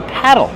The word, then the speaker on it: paddle: Or I can call it a paddle. Paddle. Use a short ass sound like black cat. Paddle. Plus a short ul sound like in table and bottle.